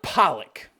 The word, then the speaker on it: Pollock: the way just wait Emma Pollock rhymes with bollocks which is what this